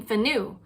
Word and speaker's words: FNU: But then he didn't have one, so as a placeholder, his last name became Fanu, which is spelled as FNU, which stands for either,